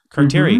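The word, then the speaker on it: carterii: How do you pronounce Carteri. It? Carteri.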